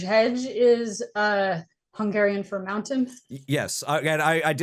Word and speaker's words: Hegy: So uh I believe I'm going to pronounce this band name wrong so much because Hedge Hedge Hedge is uh Hungarian for mountain.